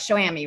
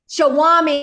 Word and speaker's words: Showami: of show amy and so i'm saying that right show amy right yeah show ami shawami i didn't say it right okay shawami everyone um and it's a